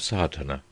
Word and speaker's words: Sadhana: A word may be added about the pronouncing of Sadhana. The accent falls decisively on the first A, which has the broad sound of the letter.